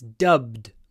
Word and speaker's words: dubbed: into Russian with dubbed the challenge is to pronounce to make them both voiced don't say d dubbed dub dubbed it's dubed dubbed into Russian the next